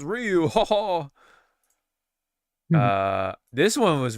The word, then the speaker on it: Ryu: Oh, but it's pronounced Ryu.